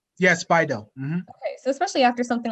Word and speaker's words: BiDil: And so would you say, and especially after you talked about, is it Bidil it's pronounced? Yes, Bidil.